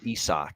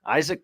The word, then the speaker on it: Isaac: I always laughed that his name is spelled Isaac but we call him ESO esok parades yeah isach parades yeah is even though it's spelled like you look at it's like Isaac come on Isaac parades no ESO but yeah he's a